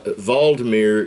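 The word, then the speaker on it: Volodymyr: that it is uh valdemir zelinski valdemir is the ukrainian pronunciation of vladimir so basically you got two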